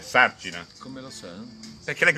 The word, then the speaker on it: Sarcina: l'accento scrivendo il cognome, per evitare che si dica Sarcina, lei mette l'accento, giusto? Sì. Per dire Sarcina.